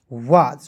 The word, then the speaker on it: was: WAS तो डब्लू का व, ए से आ की मात्रा और एस है तो इसका उच्चारण ज के रूप में करेंगे, हो जाएगा वाज।